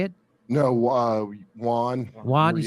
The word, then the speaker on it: yuan: Accepting yen. Is that how you say it? No, yuan.